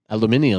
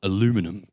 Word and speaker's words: aluminium: Real lightweight metal that like It's called Aluminium. aluminium. aluminium. Well, here's the thing. It's called aluminium in the UK English dictionary. In the US dictionary, it's spelled different. That's why you guys call it aluminum.